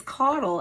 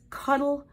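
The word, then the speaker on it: Caudle: and the final word that I hear people mispronounce it's not a health word but it's my word it's my name it's coddle and you'll never believe or maybe you will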